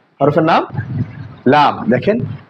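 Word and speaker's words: لام: এরপরে দেখেন আমাদের হরফ, এই হরফের নাম হচ্ছে লাম। হরফের নাম লাম। দেখেন, লাম। দেখেন, জিহ্বার আগার কিনারা সামনের উপরের দাঁতের গোড়ার সঙ্গে লাগায়, সামনের উপরের 2 দাঁতের গোড়ার সঙ্গে লাগায় এই হরফটি উচ্চারণ করতে হবে।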